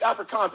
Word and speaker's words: Afrikaans: No. It's Afrikaans. It's with a K. It's Africa KAAN or something like that.